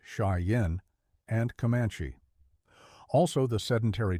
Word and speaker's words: Cheyenne: Blackfoot Crow Arapaho and Cheyenne pronounced shyen and kamanche also the